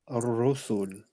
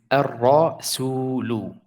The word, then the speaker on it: الرسول: الرسل. So القمرية. I mean الشمسية. الشمسية. نعم, it's good, but this is a wow here. There's a mad here, so it is الرسول.